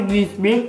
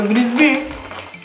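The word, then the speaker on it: Bisbì: E poi io l'ho sempre chiamato Bisbee, ma in realtà sulla scatola c'è l'accento sulla I. Quindi si chiamerebbero Bisbee.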